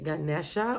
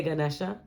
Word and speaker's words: Ganesha: Pile 2, you've got one of my Ganesha or Ganesh. I've heard so many pronunciations. I say Ganesha.